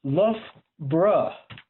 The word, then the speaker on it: Loughborough: I will talk about childhood, but I'm sure your most burning question just now is where is Loughborough, which is actually pronounced Loughborough.